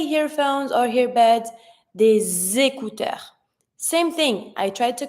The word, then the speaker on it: des écouteurs: The S is always going to be pronounced like a Z sound. Des écouteurs. And I don't pronounce my final S. It's just to show that it's plural, but it's always mute.